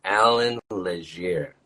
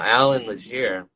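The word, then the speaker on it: Allan Legere: Named Alan Leger. That's spelled ALLANLEGERE.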